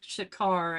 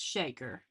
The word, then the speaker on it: Shaker: And he said people want to pronounce it Shakar, and he's not mad, but it's Shaker.